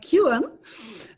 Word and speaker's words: Kuin: i just learned that your name is correctly pronounced at least in canada as uh alicia kewan and alicia would you